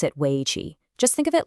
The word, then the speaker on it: Wei Qi: You pronounce it Wei Qi.